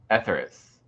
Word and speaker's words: Etheres: speak I'm gonna overthink how to say it etheris yes you did it let's go let's talk